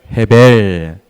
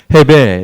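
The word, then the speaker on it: הֶבֶל: 헤벨. 네, 발음 좋으십니다. 헤벨.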